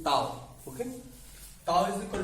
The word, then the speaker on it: tau: तो हम simply टाउ लिखेंगे, टाउ, TAU pronunciation टाउ, okay.